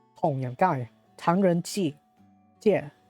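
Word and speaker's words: 唐人街: Chinese wording, it's actually more of something like Tongyanggai, Tangren Ji, Jie, Tangren Jie.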